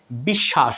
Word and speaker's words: বিশ্বাস: বলব আপনি একদম সারাজীবন ক্লিয়ার হয়ে যাবেন বন্ধুরা বিশ্বাস এখানে লক্ষ্য করুন উপরের উদাহরণ থেকে এখানে একদম